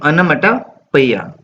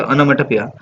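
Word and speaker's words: onomatopoeia: तो देखो, इसको हम पढ़ेंगे अनामेटोपोइया। अनामेटोपोइया, जल्दी से पढ़ोगे तो अनामेटोपोइया।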